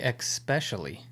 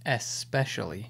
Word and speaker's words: especially: like unless people express people also say especially with an x and it the correct form is especially i think those people